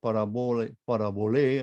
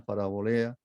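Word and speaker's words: παραβολή: Ahí se usa la mismo vocablo parábola, que casi no ha sido, casi fue transliterado, pero parabolé, la pronunciarán parabolea, parábola.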